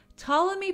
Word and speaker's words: Ptolemy: okay well Greek astronomer Ptolemy thank you by the way to the commenter who said that the p is silent thank you Ptolemy published the almagist Alma